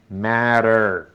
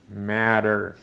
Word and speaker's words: matter: Pero los norteamericanos esa T, una T o dos T, las pronuncian como era española. Entonces, por eso uno oye matter, matter.